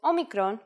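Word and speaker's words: όμικρον: this lesson this is a vowel called Omicron which makes the sound o again this will look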